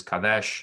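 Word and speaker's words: קָדֵשׁ: And holiness is kodesh. Kodesh. And so you'll notice that he was holy on the far left is kadesh, and then holiness on the far right is kodesh. So the same consonants with different vowels.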